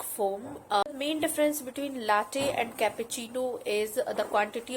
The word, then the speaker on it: latte: It's pronounced as latte.